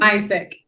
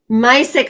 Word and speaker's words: Misek: Misek. Misek.